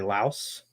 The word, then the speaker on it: Laos: The uh you know, I I uh now can correctly pronounce the country Laos.